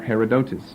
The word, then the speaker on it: Herodotus: be getting to shortly, by the Greek historian Herodotus, or Herodotus, if you want that pronunciation.